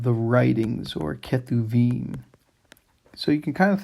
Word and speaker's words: Kethubim: And so Hebrew there, the one letter can be sounded two different ways depending on how it's marked and where it is in the syllable. So the Kethubim, it's how you pronounce